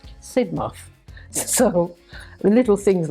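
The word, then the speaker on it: Sidmouth: from Jamaica as a freshman I call it Sid mouth Street and she sort of said to me it's not pronounced Sid mouth it's pronounced sidmov so the little things like that they hope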